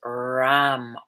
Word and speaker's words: Ram: The color here is a bright yellow, a deep golden yellow, and the sound is Ram, R-A-M, and really let that R sound out.